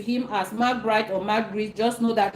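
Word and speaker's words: Marc Brys: In English, you would hear people say Marc Bright, but in Cameroon, it is called Marc Brice because it is easier that way.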